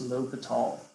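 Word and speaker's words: L'Hôpital: yes it looks like hospital but it is pronounced L atall okay so I just need we calculate the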